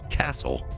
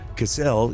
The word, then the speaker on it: Cassell: Life have adapting here Cassell never pronounced Castle is the Resort World Of The Goth system the ultimate destination of hundreds of millions of tourists every year as opposed to goss one Cassell is a beautiful ocean